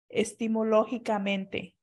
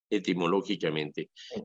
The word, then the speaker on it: etimológicamente: que si puede explicar lo que significa la palabra epifanía estimológicamente. Etimológicamente. De hecho, su origen, más bien lo pronunciamos etimológicamente, no hay vuelta de hoja.